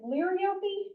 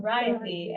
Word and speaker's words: Liriope: And so I was like, what how do you say this? Liriope? And they're like, no, Liriope. And it took a lot of practice.